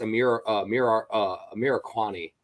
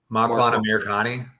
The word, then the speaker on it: Makwan Amirkhani: Mike Grundy's dad was in the stands against Amir Kwani. What's the fool's name? Makwan Amirkhani. Thank you. Me and my horrible name pronunciation.